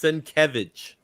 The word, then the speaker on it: Sienkiewicz: If you go to his booth, he actually has it, the enunciation. so that you can say it properly. It's Sienkiewicz. Jack.